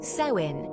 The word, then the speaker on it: Samhain: and northern France for them October 31st marked samhan pronounced as sein the end of the Harvest and the start